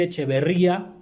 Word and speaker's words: echeverría: hasta pronunciar a mí me gusta más decir echeverría así en español que se escuche y éste está la